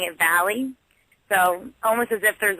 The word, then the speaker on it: Velle: Oh, it's Valley. Really? So you don't pronounce the 2 L's. You don't pronounce the 2 L's like kind of chick sound, like most Italian.